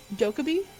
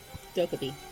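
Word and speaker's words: Dokkaebi: How do you pronounce her name again? Dokubi. Dokubi.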